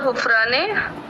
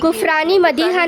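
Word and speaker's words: Ghufrani Madiha: Mabrook हुफराने, pronunciation सही है मेरा? अस्सलाम वालेकुम, वो नाम रॉन्ग गुफरानी मदीहा नाम है उनका, गुफरानी मदीहा।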